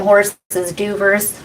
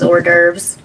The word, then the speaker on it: hors d'oeuvres: You could be making you some damn horses duvers. That's so stupid. It's giving me the Three Stooges. Yeah. Horses, duvers, hors d'oeuvres.